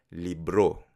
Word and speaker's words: libro: Ten en cuenta que la pronunciación de libro en filipino es libro. Libro. El acento en la última sílaba.